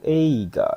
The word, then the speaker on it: 映画: Ini kanji yang ini bacanya yaitu yang nomor 2 ya, yaitu eiga desu ne.